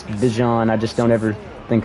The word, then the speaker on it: Bijan: oh yes sad I'm used to calling it beehan because I never heard his name pronounced but I know it's Bijan I just don't ever